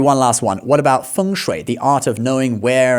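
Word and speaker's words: 风水: A lot of Westerners might call this feng shui or feng shway or something, but actually it's pronounced feng shui. The first tone and then the third tone, feng shui.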